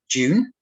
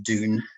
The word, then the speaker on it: Dune: of life is actually i'm going to pick june although i know americans say dune i'll try and say